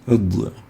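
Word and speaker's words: ض: Id is pronounced articulating between the upper molar and the sides of the tongue, and that's why we classify it as a lingual tongue letter, id.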